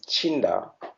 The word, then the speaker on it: Tchinda: Jinda because my name is Chinda.